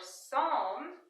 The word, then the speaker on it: psalm: Or psalm, here the P is silent.